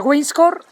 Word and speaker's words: Weisshorn: Starting tonight there's a bit of bad weather coming in, look there at the Weisshorn, Weiss-horn, I've been with some Swiss people and they taught me how to say it.